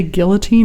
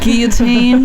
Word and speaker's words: guillotine: can say Guillotine too guilotine is the French pronunciation but it's a cognate in our language yeah Lucas was like